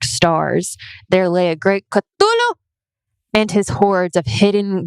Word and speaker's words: Cthulhu: Thulu is my personal favorite pronunciation of Cthulhu. Cthulhu is always pronounced as Cthulhu.